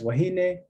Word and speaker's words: wahine: elementary curriculum um so we can predict that stress in a little hawaii is going to fall on the second to last syllable we have examples of multi-syllabic words such as kapu penultimate stress same as wahine in a trisyllabic word